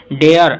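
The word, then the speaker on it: dare: बात आपको बता दूं, जिसके लास्ट में, जिस वर्ड के लास्ट में आर आता है या आर ई आता है, वो उनका प्रोनाउंसिएशन है वो लंबा ए की तरह होता है, यानी कि आर या आर ई साइलेंट हो जाते हैं।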